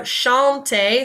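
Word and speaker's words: chanter: means to sing so Shante say this word for me Shante and this makes like a sh sound like you're shushing someone so Shante so I love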